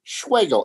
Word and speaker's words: Schwegel: Schwegel, S-C-H-W-E-G-E-L. Spelled like Schwegel, rhymes with bagel.